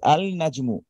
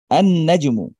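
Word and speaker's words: النجم: এখানে যদি একটু সূক্ষভাবে খেয়াল করেন আমরা কিন্তু বলছি না যে আল নাজমু। আলটা উচ্চারণ করছি না ডিরেক্ট গিয়ে নুনকে ধরছে ডিরেক্ট গিয়ে এটা নুনকে ধরছে আনাজমু আচ্ছা আবার দেখেন দিকুন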